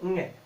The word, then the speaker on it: ङ: इसे बोलेंगे ङ। उच्चारण के रूप में अगर इसे लिखा जाए आधा न और ग, ङ के रूप में ये लिखा जाता है, सॉरी बोला जाता है।